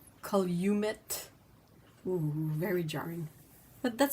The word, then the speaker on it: Calumet: Calumet Farms is Calumet.